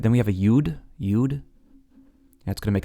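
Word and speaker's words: יוד: Some people pronounce Yud as Yod. I prefer Yud.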